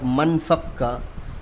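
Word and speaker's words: ما انفك: Ma anfakka, so it's pronounced like manfakka.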